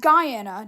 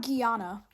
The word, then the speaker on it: Guyana: be become a state Venezuela Honduras Guana it's pronounced Guyana not Guana Guatemala Bolivia then Argentina andador Chile Brazil Costa